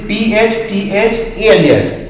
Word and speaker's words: phthalate: This PHTHALate, phthalate, PH silent, just like this.